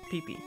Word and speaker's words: Pippi: Pee-Pee. As in E-E, E-E? No, it's like how it's spelled right there, Pee-Pee. Okay. I mean, that is technically how it'd be pronounced in Japanese.